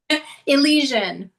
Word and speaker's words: Elysian: So Elysian. And Okay, I was going to pronounce it Elysian.